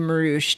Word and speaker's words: Marouche: Well, Jamal and I's last name, Marouche, doesn't really have anything that rhymes with it except for Fattoush.